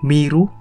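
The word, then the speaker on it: 見る: Nah kungyominya yaitu miru, miseru sama mieru, itu kungyominya bro. Ongyominya yaitu keng, satu doang cuman keng gitu bro.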